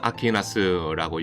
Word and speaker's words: 아퀴나스: 지금은 폐허로 남아 있습니다 우리는 토마스 아키너스고 영어식으로 발음 합니다만 유럽에서는 토마스 폰 아크비이라고 발음을 하죠 크빈 바로 지역 이름일